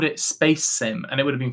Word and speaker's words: Spasim: He said, naively intended for it to be pronounced Space Sim, but players of the game quickly christened it Spasm.